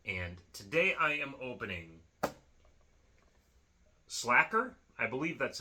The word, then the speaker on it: Sla'ker: it's slash it's Faker is this pronounced slaker but I know it's not that sounds more like we're mashing up uh He-Man with Sav by the Bell or something like that but no it's slacker it's cool kind of